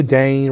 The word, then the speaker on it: Dane: I know Dane rhymes with Maine, but it sounds dumb. Don't do that.